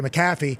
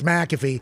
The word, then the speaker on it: McAfee: get it right because whenever people say macaffy I say no it's McAfee and then they say like the antivirus bingo and that's